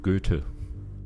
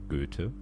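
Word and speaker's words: Goethe: of Adana to Dr Fus from Marlo to gutu that's how you pronounce it by the way gutu there's a story that the Ancients keep kept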